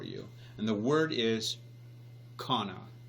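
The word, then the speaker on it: qanna: this word for you and the word is Cana it's actually spelled the the transliteration is spelled Q a and then a I suppose we would pronounce it Cana but it's it's actually Cana and and this is what it means it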